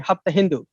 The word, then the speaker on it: Hapta Hindu: uh they couldn't pronounce the Persians can't pronounce S, so they don't say uh Sapta Sindhu, they say Hapta Hindu.